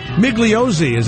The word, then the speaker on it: Migliozzi: Mike Migliozzi. Am I saying it right, Mike? Yes, Paisan, you're saying it right.